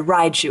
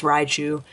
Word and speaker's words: Raichu: still double rotu PS uh sorry rotu I always put the extra syllable in there I'm very sorry people get on me all the time I know it's Raichu my radiant collection card